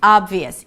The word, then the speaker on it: obvious: So, to pronounce this word, we start with 'aa' as in father, and then it's a B sound, very small one, 'aab'. Then you move to the V immediately: 'aab-vee-y's'. 'vee' high 'ee', a 'y' sound, schwa, and S.